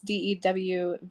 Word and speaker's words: Duvel: I'm not entirely sure how to pronounce his name. It's DEWVEALL.